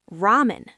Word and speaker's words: ラーメン: Next, ramen. Those amazing noodles and soup. In Japanese, we stretch that A sound. Listen. ラーメン Ramen. Hear that? Ra-a-men. Try it. Ramen.